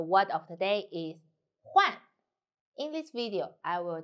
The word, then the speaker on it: 换: The word of the day is Huàn. In this video, I will teach you how to pronounce it, how to write it, and how to use it.